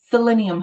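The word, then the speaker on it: psyllium: So, a good binder, selenium husk. And selenium, most people try to spell it wrong because it sounds like it starts with a s, but it's p s y l i u m.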